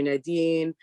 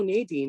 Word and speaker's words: Nadine: name is nadine or nadine that's like how people in france or jamaica or outside of america pronounce it and then when i